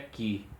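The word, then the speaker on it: χ: essas iniciais, a letra Ki, e ela é transliterada com CH, mas se pronuncia Ki, Cristo, e não Cristo, como se fosse o som de X.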